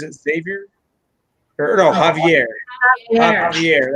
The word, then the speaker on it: Javier: Javier. That's how you say it. Even though it's spelled with a J. It's like a tongue twister. Javier, like Jose is Jose.